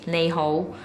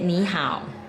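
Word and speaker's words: 你好: say how are you you're saying Cantonese is neho but in Mandarin you said Nihao how old are you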